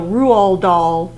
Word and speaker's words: Roald Dahl: It's pronounced Roo, like kangaroo, Roo, and then Rual. It doesn't have, you don't pronounce the D at all.